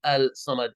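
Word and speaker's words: الصمد: Allah you are saying al-sama there's just a pronunciation rule difference that you know with the sub you don't say Al you don't say you say us because the original word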